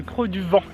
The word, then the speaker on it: Creux du Vent: Ça s'écrit V-A-N, donc ça sonne un peu le creux du van. Mais apparemment on dit bien le Creux du Vent.